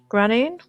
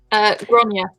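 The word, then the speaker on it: Gráinne: if I used these 2 here, so if I used Lorna Doone plus now how would I pronounce this? Granine? Gronya.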